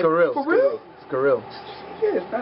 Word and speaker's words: Sciryl: no damn it I scills SC scill I heard squirrel before I heard cereal I heard I get cereal I heard squrs I heard scrilla it's scill like why why you